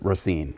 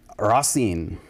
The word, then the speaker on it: Racine: How did they pronounce it when they first came here? Racine. Racine. Which I think is no. But they kind of swallow all those, swallow all the sounds a little bit.